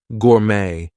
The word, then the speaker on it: gourmet: a J but anyway T is going to be silent in some words there might be words that are borrowed from other languages Etc so things like ballet Gourmet we are not going to pronounce the te there she's a ballet